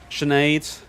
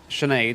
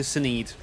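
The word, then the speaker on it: Sinéad: but in my head like sinead for example i'll always go go to a caller or something or send a message i'm like ah yes i need to speak to saneed just in my head i just like to say the wrong thing and one day i'm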